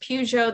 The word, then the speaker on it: Peugeot: Yeah, because there were companies like Peugeot, I think it's called, pronounced Peugeot, the French car company.